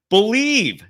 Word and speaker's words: Bleav: Head to the website today and use the promo code BELIEVE. That's the name of the program. BLEAV is how you spell it, and get in on the action.